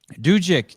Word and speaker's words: Dukic: You know how to say Dukic brothers. No, you were saying it correctly. Dukic.